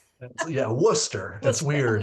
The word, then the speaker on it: Worcester: So, we'll start with Andrew K, who uh is correcting me on my uh pronunciation of your town. He Andrew says it's Wora. Woo, Mass. Yeah, Worcester.